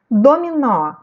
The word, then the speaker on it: dominó: Dominó. Vou separar as sílabas. Do, mi, nó. O nó é a sílaba tônica, está acentuada.